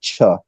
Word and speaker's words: Che: I've known her for like years it's she pronounces it cha um but she wrote this book called The